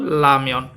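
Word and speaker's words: 라면: অর্থ লুডুস এটা হচ্ছে বানানটা হয় রামিয়ন কিন্তু উচ্চারণ হবে কিন্তু লাময়ন হ্যাঁ ঠিক আছে খোয়াজা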